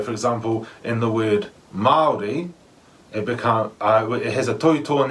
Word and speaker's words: Māori: So I've heard people say the way you pronounce the word Māori is in like mouldy bread, like mouldy. Yeah, you might have heard that one. But it's actually, that would be right if there was no tohutoa in the A. But there is a tohutoa in the A, so it becomes Māori.